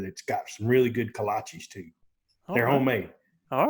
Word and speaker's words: kolache: That's got some really good kolaches too. They're homemade. All right. Bohemians in there, they know how to make those kolaches. What is that, bro? A kolache? Yeah. You never had a kolache, Joe?